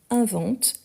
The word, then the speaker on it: inventes: la marque de tu c'est le S à la fin donc tu inventes avec le S même si on ne le prononce pas tu inventes de blagues